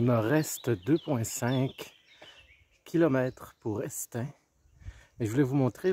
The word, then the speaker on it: Estaing: Le village, en fait c'est Estaing qui se prononce, le village d'Estaing.